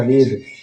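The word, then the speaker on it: read: तो सीमा हैज फिर वब में हो गया पढ़ना रीड रीड का भी थ्री रीड ही होगा। रीड रेड रेड Seema has रेड a book. इसको हम लोग पढ़ेंगे रेड लेकिन स्पेलिंग वही सेम रहेगा। यानी सीमा किताब पढ़ चुकी है।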